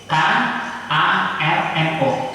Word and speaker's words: Soekarno: Tapi dalam ejaan Swanli, U itu ada O dan E. Maka Soekarno ketika proklamasi itu teks aslinya harusnya SOEKARNO, Soekarno.